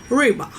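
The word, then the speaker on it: рыба: than the russians and since i'm russian i'm pronouncing it with an accent so reba like rips you know so this is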